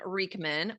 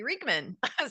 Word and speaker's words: Riechmann: Well, just so the audience knows, I had to ask, how do I pronounce your name? And he said Riechmann.